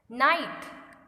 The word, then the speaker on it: night: Night, H is silent because we don't pronounce it.